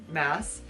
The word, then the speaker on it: Maas: Glass by Sarah J Maas that's it rhymes and this is technically